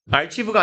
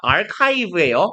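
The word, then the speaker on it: archive: 소히 시켰어야 되는데 들어버렸다 아브가 아니라 아카이브에 아카이브란 말 들어봤냐 어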